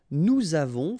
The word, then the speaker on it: avons: Okay, so j'ai, tu as, final S not pronounced, il a, elle a, nous avons, final S not pronounced, and then we make